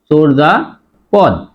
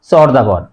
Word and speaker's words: চর্যাপদ: choker দিয়ে চোর আর যদি অন্তস্থ যা থাকে উচ্চারণ হবে বর্গীয় যা চোর যা পদ আমরা অনেকেই উচ্চারণ করি চরপদ সঠিক উচ্চারণ হবে চর্যাপদ